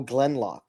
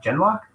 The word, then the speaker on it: Genlock: characters in the show Glenlock. Michael. I don't know what that is. Glenlock. I have no clue. That's an anime, isn't it? Hold on. Oh, Genlock? Oh yeah, Genlock. I mispronounced it.